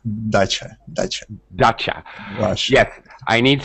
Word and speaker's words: dacha: Is it a dacha?